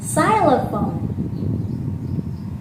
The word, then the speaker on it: xylophone: right yes that's right xylophone say james okay x4 xylophone style cylophone it's a bit similar to letter s which is this but the letter x